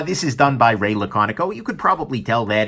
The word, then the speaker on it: Laconico: by raela Conoco and i actually asked the guy hey ray eddie pronouncing Amy said laconic oh so now I know that right um but anyways I this is done by Ray laconic oh you could probably tell